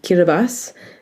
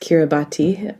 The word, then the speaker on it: Kiribati: sailed with Sea Shepherd south of Hawaii to Kiribati. It's spelt Kiribati, and that was a climate change story of.